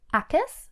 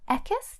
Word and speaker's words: ek is: Or I am, Akis or Ekis, depending on your pronunciation.